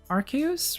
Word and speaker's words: Arceus: Arceus, right?